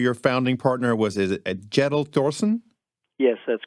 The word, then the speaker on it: Thorsen: your partner your founding partner was a gentle Torsen yes that's correct did I pronounce that correctly almost it's cute little Torsen gentle Thorsen okay I'll work on that one your firm